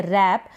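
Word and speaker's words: wrap: लिखना और लिखो रैप इसको हम पढेंगे रैप डब्लू साइलेंट SMS से यह रिस्ट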